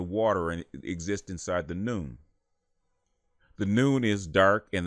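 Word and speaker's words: Nun: In Memphite theology, they call this the noon, which is spelled N-U-N.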